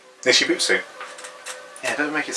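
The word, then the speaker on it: Nichibutsu: They're called Nishibutsu. Nishibutsu?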